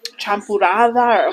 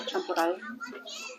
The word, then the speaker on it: champurrado: She would make champurrada or chapurando. I can never pronounce it right. Champurrado.